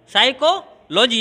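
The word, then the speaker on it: psychology: साइकोलॉजी है। देखिए यहाँ पे क्या है कि पी साइलेंट रहेगा, बाकी सेम चीज़ यही है।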